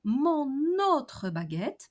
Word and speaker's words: mon autre baguette: If I want to say my other baguette, mon autre baguette, pay attention to respect the liaison while pronouncing.